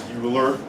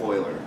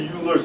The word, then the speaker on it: Euler: Swiss mathematician Euler okay a lot of people pronounce his name is Bueller no it's Swiss it's pronounced Euler now something I always hear kids come in to tutor say I need help with a Euler's method boilers man okay it's pronounced Euler right